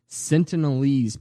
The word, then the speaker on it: Sentinelese: isolated Sentinelese people's entities it's not a sin tonie's it's what I've heard there's an L I don't care this is how I've heard it pronounced all week the sense of these people sentient I don't like it no it's not asking anybody else here it's the Sentinelese people you're so dumb we're